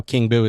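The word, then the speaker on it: King Buu: So remind them one more time how King Boo is spelled. Yes, King Boo is spelled king as in king and boo, B-U-U.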